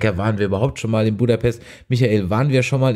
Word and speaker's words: Budapest: die richtige aussprache ist wir sagen herr budapest im deutschen dem ungarischen heißt es in der tat budapest na ja und das